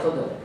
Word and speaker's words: Khidr: It can be pronounced Khidr, Khadr, or Khudr. Either one of those three.